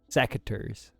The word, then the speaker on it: secateurs: Google tells me that cache is pronounced cash, so I don't know. Secateurs? Secateurs? Secateurs.